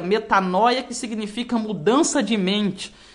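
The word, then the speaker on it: μετάνοια: no nosso novo testamento esta palavra ela se pronuncia metanóia metanóia que significa mudança de mente mudança de pensamento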